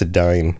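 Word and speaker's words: Edain: Some of them were taller, more similar to the the Adan or Adain Adine. I think it's Adine. Somebody corrected me on that one time, and of course, I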